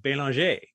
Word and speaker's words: Belanger: So the other thing too is, you know, my last name, Belanger, when I'm in France, I pronounce it Belanger because it's as common a name as like Baker is in the US.